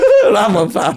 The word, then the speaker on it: Rahmanfar: Rahman fire. Yes. Rahmanfar.